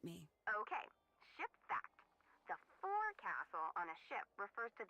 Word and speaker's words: forecastle: of a sailing ship, but it's pronounced forecastle. Why is that? Try pronouncing it like an English sailor with no formal education. Forecastle. Forecastle. Over time it whittled down.